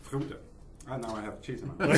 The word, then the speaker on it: Frodo: Frodo.